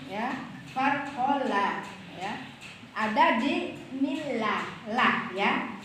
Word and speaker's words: bismillah: pertama yaitu bismillahi farqolam ya farqola ya ada di bismillah lah ya bismillah di atas huruf lam bismillah itu lnya tuh harus ditasdid jadinya bismillah ya jangan bismillah itu berarti lewat ya harus bertasjid bismillah nah gitu ya cara